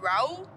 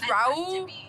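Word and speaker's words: Rauw: Raul? Whoever. Yeah. I know who you're talking about. I don't know how to say his name though. I think it's Raul or like something.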